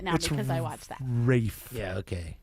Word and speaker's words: Ralph: Wraith. Yeah. Okay. The L is silent.